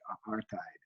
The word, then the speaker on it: apartheid: So let me start by calling attention to this word here on the lecture outline, apartheid. That's how that's pronounced. So if we were in class, I'd say after me, apartheid.